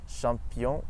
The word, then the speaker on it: champion: In English, the CH makes a ch sound, but in French it's always sh, like in the word bush or shingle. And in French we have champion et tache.